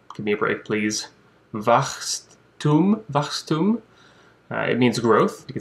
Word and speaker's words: Wachstum: I ended up with a German word for growth, which is called, and I'll pronounce it, but give me a break, please, Wachstum.